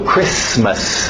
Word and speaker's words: Christmas: Alright, do outro lado, Christmas, o T é mudo, Christmas, não tem medo dos S's, Christmas. Easter.